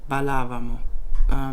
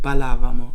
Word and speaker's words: ballavamo: I said ballavamo, which is more of Spanish bailábamos. So I pronounce it balávamo. I put the stress on the second syllables.